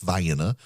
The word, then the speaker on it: Vienna: You've got a Vienna that's pronounced Vienna.